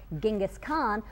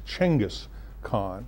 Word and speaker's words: Genghis Khan: is correct you it's changus khan and evidently uh westerners have been mispronouncing it for hundreds of years okay so let's talk